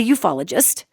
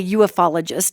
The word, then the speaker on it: ufologist: my work as a ufologist, which I routinely mispronounce, by the way. I always want to say UFOlogist. I always mispronounce that, but it's ufologist.